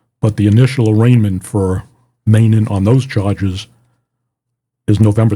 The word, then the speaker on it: Meenan: know that Kevin Meenan, I'm pronouncing it Meenan, that's the way it's pronounced. I've been saying meaning on the other podcast, so it's Meenan.